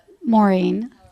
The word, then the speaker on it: Morin: Sophie Morin. Here. Did I say your last name correct? Maureen.